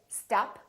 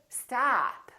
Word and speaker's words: stop: So don't say stop, say stop, stop.